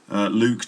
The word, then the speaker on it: Luke: luke thompson now um the name luke can be a little bit difficult for um learners of english to pronounce sometimes and i meet lots of people who can't pronounce my name and they they they call me look or maybe luck but it's not look or luck it's uh it's